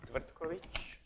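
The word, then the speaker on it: Tvrtković: So it's Tvrtkovic.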